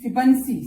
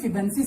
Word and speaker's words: Fibonacci: Fibonacci spelling is Fibonacci. Don't pronounce it Fibonacci.